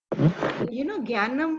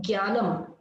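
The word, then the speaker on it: ज्ञानम्: And remember, in Hindi, you would say Jnanam. G. Okay, this is not G. This is Jna. Gya.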